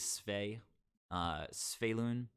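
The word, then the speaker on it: Svyelun: mateo yeah apparently uh the official or the way that some official wizards people are pronouncing it is svey sphaelun i don't love that i don't dig it um for me you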